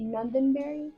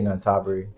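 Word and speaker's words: Nonthaburi: on the outskirts of Isn't it Nenbury? How is it? Well, I say Nabari. Nabari. I think that exactly how you say it.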